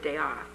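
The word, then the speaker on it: De'Ath: was young south african by the name of george dayoff it was spelled d-e-apostrophe-a-t-h uh and if you remove the uh whatever that thing is is spelled death thus his nickname dr death apostrophe he had been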